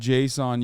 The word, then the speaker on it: JSON: check your email let's take a look it's pronounced Json you got it oh how